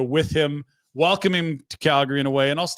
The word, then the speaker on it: Calgary: First, it's pronounced Calgary. No need for that pesky second A.